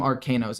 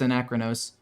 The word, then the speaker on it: Anachronos: I don't know why I keep calling him Arcanos. It's Anachronos.